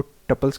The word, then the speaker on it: tuple: ज़रूरी नहीं है, क्योंकि मैंने ब्रिटिश को टपल्स कहते हुए सुना है और मैंने अमेरिकन को ट्यूपल्स कहते हुए सुना है। तो दोनों प्रोनाउंसिएशन वैलिड हैं।